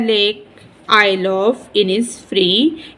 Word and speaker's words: Innisfree: the lake oil ऑफ इनस फ्री इनस फ्री एक जगह का नाम है इसमें एस साइलेंट है इसको पढ़ेंगे द लेक